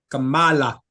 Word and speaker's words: Kamala: was asked literally is like, do you think Kamala, however the hell you say her name? Kamala.